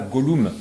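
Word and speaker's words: Gollum: beaucoup de gens disent pourquoi tu dis pas Golou Golum c'est la juste la la prononciation à l'anglaise comme j'ai vu les films surtout en en VO je je le prononce donc à l'anglaise moi je je dois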